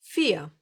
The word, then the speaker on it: vier: So here comes the simple V, and the best way to remember how to pronounce it is to remember how to say this number in English. 4. Yes, the Germans will most of the time pronounce this letter like you would pronounce the English F.